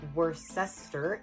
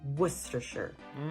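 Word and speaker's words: Worcestershire: That's actually not how it's pronounced. So let's divide it. It's not worester. It's wor. And then it's not shy. It's sh Let's put it together. Worcers.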